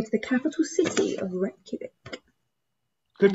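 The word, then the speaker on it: Reykjavík: And we're gonna go to the capital city of Reykjavik. Good pronunciation, Hannah.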